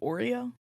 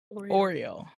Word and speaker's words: Oriole: It's called Oreo. Did I pronounce that right? Oriole.